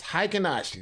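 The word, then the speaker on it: Heikin-Ashi: you want to know it's not one word it's two words it's high kanasha these are hiking nicey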